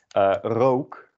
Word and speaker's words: rook: Rook kind of sounds like coke. It is a bit different, but similar enough. If you pronounce it that way, or you have a sound in your own native language that sounds similar to that, you can also just use the O from there.